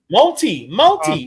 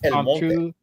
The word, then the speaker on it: El Monte: Monty. No, Jeff. It's El Monte.